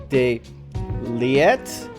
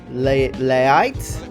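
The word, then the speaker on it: de Ligt: the pronunciations of like de leet Le leite I think is how you pronounce it I see that like the i j is like a ea and that kind of noise so I'm practicing the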